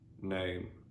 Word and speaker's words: gnome: So for example, in the words no, gnarly, gnome, gnomic. Sometimes the letter H is silent at the beginning of the word.